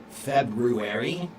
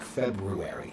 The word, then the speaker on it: February: However, I will tell you Sarah that uh the second month of the year, February, I pronounce it the original way that it was pronounced.